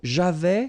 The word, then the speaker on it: j'avais: So, j'avais, final S not pronounced.